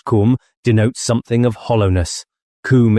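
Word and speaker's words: Koom: Kum pronounced like the Welsh Kum denotes something of hollowess.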